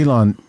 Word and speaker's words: Elon: By the way, Elon sort of rhymes with Scubalon.